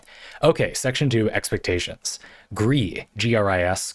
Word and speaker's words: Gris: G R I S Gris. Gree is one of my I think it's pronounced that way is one of my personal favorite games of all time.